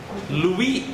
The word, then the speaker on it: Louis: Você não pronuncia o S. Você não é uma francesa verdadeira. Louis da França.